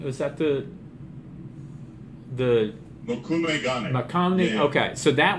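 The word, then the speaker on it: mokume-gane: So before we had, and forgive me if I pronounce it incorrectly, but we had Mott Gandhi. Was that the Makume Gane.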